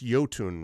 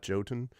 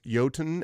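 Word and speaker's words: Jotun: oh man it's it's yotun right not joton uh yoton and Sun well that's how I would pronounce it it's a Norse word I canot guess yoten and I remember hearing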